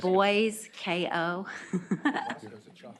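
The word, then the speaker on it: Boysko: just a few minutes Senator Bosco do you have another bill here boyco sorry I think I may have mispronounced like boys KO you're such a pretty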